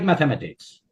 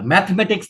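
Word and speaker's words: mathematics: It's like ম্যাথামেটিক্স। উচ্চারণ শেখাই দেয়, এটা ম্যাথমেটিক্স না, ম্যাথামেটিক্স। ওই যে THE আছে না, ওইটা সহ উচ্চারণ হয়, ম্যাথামেটিক্স, ম্যাথামেটিক্স।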